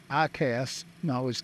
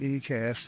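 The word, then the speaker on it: EICAS: windshare heat 105 just while I grab the paperwork pushes back real ecast and go else I cast it ecast but it's pronounced ICAST uh APU master can go off and standby power can go off.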